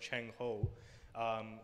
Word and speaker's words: Zheng He: example that would be more famous is uh zheng he as his transcribe but is his is pronounced chang ho who is probably the most famous admiral the